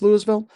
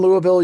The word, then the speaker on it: Louisville: to find out that there's really no wrong way to pronounce Louisville. When you're in Louisville, you can call it Louisville, you can call it Louisville, you can call it Louisville. There's a bunch of ways to pronounce it. Apparently, they pronounce it in all kinds of different ways. They're just happy that you're there.